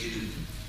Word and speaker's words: GNU: de notre système d'exploitation, il faut ne pas suivre le dictionnaire pour éviter la confusion, parce que notre système n'est plus nouveau, mais il est toujours GNU. Donc il faut le prononcer GNU. Nous avons travaillé 31 ans dans son développement. Nous l'utilisons depuis il y a 23 ans. Donc le système n'est plus nouveau. Mais il reste GNU.